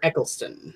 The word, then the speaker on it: Eccleston: I can't pronounce his fucking last name. Christopher Eccleston.